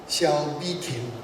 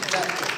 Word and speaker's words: Bi-khim: my good friend, Ambassador Bi-khim. I have to pronounce it definitely in Taiwanese dialect because that is his name. Yeah, I like it. I like it. Bi-khim.